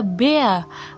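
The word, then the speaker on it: Bär: R itu bisa berubah menjadi A bila berada di akhir kata. Makanya kenapa tadi yang bea ini saya baca bea artinya beruang saya baca r-nya itu a karena r itu kalau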